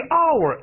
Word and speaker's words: hour: 由于 hour H 不发音，所以答案是不是 A 啊？